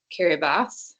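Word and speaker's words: Kiribati: And this is illustrated by introducing them to Kiraabas, which is how you pronounce island's name.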